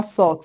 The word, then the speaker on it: salt: Now we have salt. Salt. This is not salt. Is salt. Salt. So the L in it is pronounced.